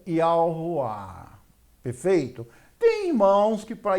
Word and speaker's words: Yahuah: Ó, eu pronuncio porém Yud, Re, Vav, Re, como Yahuwah.